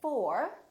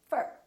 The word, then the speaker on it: for: they sound like uh so we don't say at we say ut we don't say look at me we say look at me look at me we don't say to we say i'd like to talk to you so don't say i'd like to talk to you reduce that vowel and say i'd like to talk to you we don't say for we say fur so don't say i'm